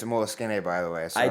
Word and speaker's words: Moleskine: I use the, I love a good, Moleskine notebook that and you can't pronounce it Moleskine. It's a Moleskine, by the way.